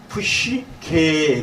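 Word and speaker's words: ψυχή: 이에 그래서 푸시케 그래서 저기서 한번 발음 같이 해볼게요. 푸뉴마 푸시케. 여러분 혹시 내가 볼 때 저기 심웅섭 형제님 그 자매 누님 되시는 자매님은 옛날에 혹시 이런 푸시케라는 연극이 있었던 거 아마 혹시 기억이 나실지 모르겠어요.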